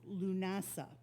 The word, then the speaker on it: Lughnasadh: like my last name, it certainly isn't spelled the way it is pronounced, but it is pronounced Lughnasadh.